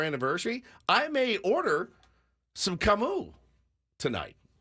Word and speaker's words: Camus: because I don't think I've ever heard it pronounced correctly. Then Camus. Now I know. Like, I'm going to a fancy dinner tonight with my wife for our anniversary. I may order some Camus tonight.